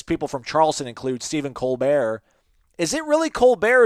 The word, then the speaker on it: Colbert: Why Colbert? And he's like, well, actually, the original pronunciation is Colbert, and we changed it to Colbert because we lived in South Carolina, but I went and changed it back.